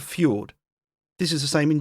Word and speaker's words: fjord: In some Swedish words, J is pronounced as ye. Think of fjord.